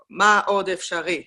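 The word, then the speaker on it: מאוד אפשרי: It's like ma od efshari. It's like like that. Okay.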